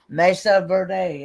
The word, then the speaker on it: Mesa Verde: Mesa Verde. Ever how you pronounce that? Not Verde. I mean, I guess it kind of is. I've never heard it quite like that.